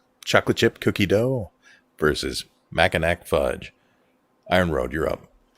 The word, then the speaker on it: Mackinac: They say Mackinac. That's how they say the name of the island.